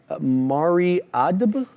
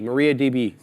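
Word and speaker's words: MariaDB: look at mrd Maria mariad how do you say that Maria dab Maria Maria DB Maria DB yeah it's a cloud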